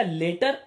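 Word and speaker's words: latter: आगे देखो, लेट अगर पॉजिटिव डिग्री है तो इसका लेटर और लैटर, देखो प्रोनाउंसिएशन में फर्क है, लेटर लैटर दोनों में फर्क है, तो इनको बहुत अच्छे से जानिए, कहां लेटर लगाते हैं कहां लैटर लगाते हैं।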